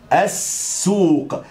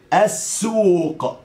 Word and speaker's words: السوق: إلى السوق، السوق، أس، شوف نطقت الألف ونطقت السين بعدها، السو، نطقت السين مرتين أهو، عشان كده بقول نحفظ لام الشمسية، السوق، ماشي؟